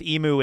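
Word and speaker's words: Imu: Emu is the right way to say the name. I was saying Em for the longest time, and I got into it.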